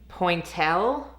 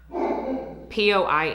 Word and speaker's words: Pointelle: And then they sent over their gloss in Pointel. I know it's not pronounced like that, y'all. I'm very aware. Pointelle, which is a pink gloss or lip oil.